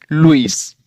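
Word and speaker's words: Lewis: ऐसे यहां पर एल ई डब्ल्यू आई एस लुइस।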